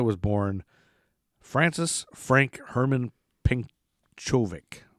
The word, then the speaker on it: Pencovic: See, Venta was born Francis Frank Herman Penkovic. Probably Penkovic is how you say it. Probably Penkovic. Penkovic, Pencovic, Penkovic, like Yankovic.